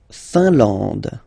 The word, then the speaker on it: Finlande: La Finlande. IN here, nasal, un. AN, nasal, en. And then D, final not pronounced.